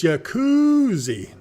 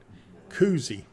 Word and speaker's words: Koozie: of the all right let me get it right Koozie it's Koozie not Jacuzzi even though my mouth gets